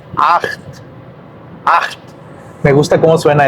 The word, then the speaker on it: acht: Aquí tenemos un ejemplo en donde la CH, no la CH y la pizza, la CH suena como G. A veces la CH en alemán suena como G. Acht.